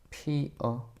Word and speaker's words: 피어: 자, 피여가 아니라 원칙적으로 어떻게 발음해야 된다고? 피어.